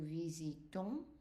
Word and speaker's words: visitons: So here, nous visitons. So it's an on, S silent.